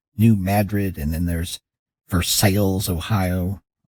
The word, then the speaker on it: Versailles: birds after European cities that we change the pronunciation because there's new Madrid and then there's Versailles Ohio not Versailles and there's leave and do it to ourselves